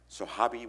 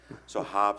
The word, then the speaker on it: Sohaib: In the early days, I was called by every single pronunciation of my name. Sohabi was one of them. So I don't even understand, how did you get Sohabi? Sohaib, Sohaib.